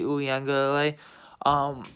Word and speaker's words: Uiagalelei: But they still had Amari Rodgers, Travis Etienne, and DJ Uiagalelei. I finally knew how to pronounce his name. DJ Uiagalelei.